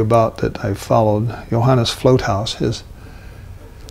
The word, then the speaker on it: Vlothuis: The artist I'm talking to you about that I followed, Johannes Floathaus, his last name is spelled VLOTHUIS, but it's pronounced Floathaus.